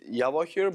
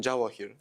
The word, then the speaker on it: Javokhir: Like in Russian, everyone says Javokhir, but in general, in Uzbekistan, Javokhir. Javokhir is if, I mean, J is in English.